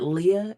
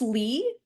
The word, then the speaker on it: Leigh: the way that uh is it Leah is that how she pronounces her name the author I I think it's Lee Lee okay Lee yeah the